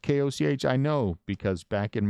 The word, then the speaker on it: Koch: It is not brew soda, so therefore it is not Coke. It's Koch. The Koch brothers, right, are K-O-C-H. They're spelled K-O-C-H.